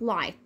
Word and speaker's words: light: حروف صامته ما بننطقهاش، زي رايت، نايت، 8، بات، لايت.